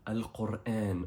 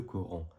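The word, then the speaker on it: القرآن: On a ensuite le Coran, c'est-à-dire Al-Qur'an en arabe, qui s'écrit de cette façon et qui est répété 77 fois dans le Coran. Répète après moi, Al-Qur'an, et pas le Coran.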